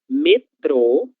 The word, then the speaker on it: metrô: Metrô é de da palavra metro. Metro, metrô são coisas diferentes, ok? Metro es lo que utilizamos para medir las cosas. Então, eu tenho 1 metro de altura. Quando a gente fala metrô com acento circunflexo na letra O, nós estamos falando do meio de transporte, ok?